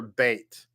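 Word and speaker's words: בית: the top, we have the letter beit, which makes a B sound. Has the dot in the middle, so therefore the dot indicates that it makes a B sound. And the box beneath it, of course, is same letter but no dot. In this case, it makes a V sound, a veit. So the top is beit and the bottom is veit.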